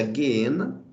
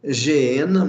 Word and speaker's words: Geena: Guiena, essa é a palavra grega, essa é a pronúncia Guiena, tá? Alguns pronunciam Geena, mas a pronúncia correta, quando você translitera do grego para o português, a pronúncia correta é Guiena, ok?